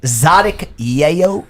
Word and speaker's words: Xotic Yeyo: c ye y oh so it's like Tzadik yo yo spelled phonetically correct Nexo TI c FY